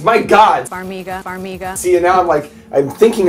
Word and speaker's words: Farmiga: It's Vera Farmiga.